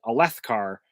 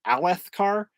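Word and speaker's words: Alethkar: word uh that's why I pronounce it erytharu and a left car rather than I think it's supposed to be urethiru and alethekar uh I'm a I'm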